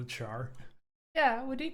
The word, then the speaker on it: char: Called it char. Yeah, what do you call it? Kind of reminds me of like share. Like you pronounce it. Yeah, like yeah, like share but char.